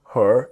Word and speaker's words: her: Now, the crucial part is the word her is H-E-R. But native speakers don't always pronounce the letter H sound.